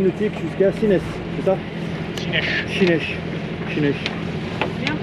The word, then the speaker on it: Sines: Chinesh. Bien prononcé, José. Chinesh.